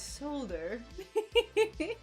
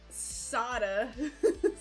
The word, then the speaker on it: solder: solder and everyone else is reasonable and says solder. Molly Luna's here too and she meows. Hi. It's quite a beautiful day. Yeehaw. Oh, ye and haw. Sorry. But yes, hi Rebecca, hello. Soda.